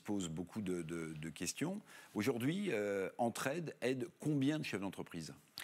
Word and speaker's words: Entre-Head: qui est assez astucieux, ça s'appelle Entraide. Bon, on aide, évidemment, mais ça s'écrit H-E-A-D, comme aide la tête, hein, comme on dirait headquarters, le siège social d'une entreprise.